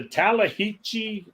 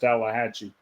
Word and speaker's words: Tallahatchie: Entertainment question Jackson okay who jumped off the talahichi bridge Tallahatchie bridge I'm sorry I used my wrong accent I call it the talahichi but it's pronounced Tallahatchie Obama jumped off Tallahatchie Bridge huh yep let